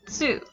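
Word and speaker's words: つ: our next character is tsu this is not really a sound that we have in english because you do have both of that t and that s sound it's not su it's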